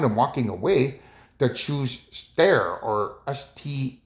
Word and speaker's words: sterre: So I'm turning around and walking away to choose stare or st e r e cuz that's how you pronounce it.